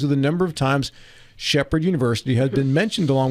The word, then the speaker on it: Shepherd: United States of America who know how to pronounce Shephard it's not Shepard it is Shephard University they know where it